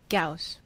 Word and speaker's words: Gauss: pronunciation academy on youtube let's see how they say it gauss gauss gauss like house okay that's what i thought gauss-like house okay so we put